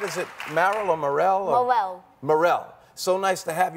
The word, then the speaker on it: Marel: Now, am I pronouncing it right? Is it Marel or Marel? Marel.